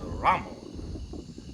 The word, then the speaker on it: Ramon: I'll plun down no it's not Ramon it's a Ramon Ron Accent on the first Soul right um here